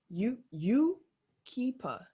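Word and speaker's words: Yucaipa: I had to look up how to pronounce this. Yukipa, California.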